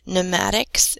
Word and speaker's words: pneumatics: it container this case pneumatics is the study of pressure and gases so hydraulics with study of pressure in liquids this is in gases the PNE you pronounce new like in pneumonia is relating to air